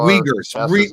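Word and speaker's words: Uyghurs: how you say it well the wiggers the UI G he R wiggers okay that's I can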